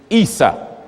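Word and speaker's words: عيسى: The way you say the name Jesus in Arabic is Isa. Some pronounce it Esau.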